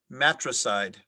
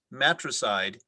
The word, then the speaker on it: matricide: ananya your word is matricide matricide may please have all the information matricide